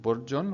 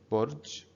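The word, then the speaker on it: برج: we're making it silent so instead of bourjon we're saying burj and najim that little circle above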